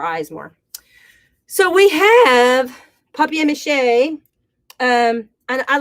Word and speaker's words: papier-mâché: So we have papier-mâché. And I like to call it papier-mâché. I don't know why. I think that's probably a more correct pronunciation than papier-mâché, because it's P-A-P-I-E-R.